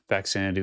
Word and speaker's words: Faxanadu: Faxanadu is how it's pronounced to me.